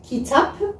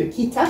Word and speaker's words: kitap: Par exemple, dans le cours sur le après et le avant, qu'on a vu kitap, parce que kitap, ça s'écrit avec un P à la fin.